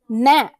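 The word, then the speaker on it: gnat: too like the word nat you know the little fly nat the fruit fly mat that is spelled with g-n-a-t but the g is silent or gnome how many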